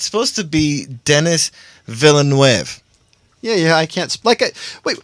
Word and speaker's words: Villeneuve: Forrest Gump writer Eric Roth to pen Dennis Villeneuve's Dune reboot. They're rebooting Dune, officially. Wait, did you just say Dennis Villeneuve? Because that's what it sounded like you said. And it's supposed to be Dennis Villeneuve.